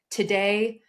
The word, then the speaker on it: Tadej: If you are having a hard time pronouncing his name, you can also say Tadej Fakasha. Like today, the day is today, and the bread I like the most is Fakasha.